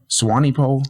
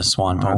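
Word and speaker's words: Swanepoel: Swany pole. Yeah. Swan pole. There's a e in there. It's silent.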